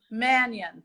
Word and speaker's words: Mannion: course yes blue good for us alright Manian pronounced that correctly Mannion Mannion thank you okay I make everything sound like